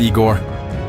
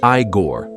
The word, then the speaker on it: Igor: That's far enough, Igor. God, don't you Sincarians ever bathe? Let's have your papers. Don't make me ask twice. Gustaf, I think we have a problem. It's pronounced Igore.